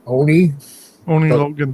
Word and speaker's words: Oni Logan: And how do you pronounce his name? Oni Logan.